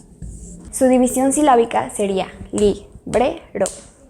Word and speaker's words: librero: Librero. Entonces, bre suena más fuerte, por lo tanto es la sílaba tónica.